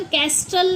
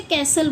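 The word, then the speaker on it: castle: ऐसे ही सी एस टी एल ई ई है sorry ये ई। तो इसे हम कैस्टल नहीं बोलते। हम इसे कैसल बोलते हैं।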